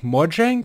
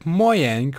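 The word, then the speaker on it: Mojang: to Moen ab and on the subject of pronouncing no said he pronounced it moang while speaking English and moang while speaking in Swedish when be Asda the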